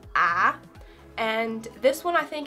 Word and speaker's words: ä: And it's basically pronounced just as um kind of like a in hat.